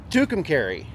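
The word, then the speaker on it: Tucumcari: charging stuffs in t Tu how do you pronounce it tukum Cary tukum Cary tukum Cary New Mexico well it was nice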